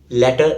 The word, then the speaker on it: letter: So this word has short a sound, as in bet, let, met. The correct way to pronounce this word is letter. Letter.